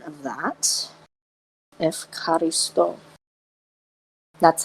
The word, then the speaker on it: Ευχαριστώ: I thank Hestia in Greek, which is simply Ευχαριστώ Hestia. Now type the Greek pronunciation of that. Ευχαριστώ. That's how you say I thank in Greek. So Ευχαριστώ Hestia.